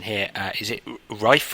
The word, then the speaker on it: Reife: Chapter 8, again, I'm going to try this pronunciation here. Is it Reifer? Reifer, yeah, Reifer.